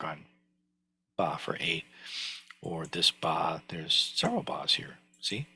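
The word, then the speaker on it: 八: might already know that the letter 8 in Chinese is pronounced something like ba oh that didn't work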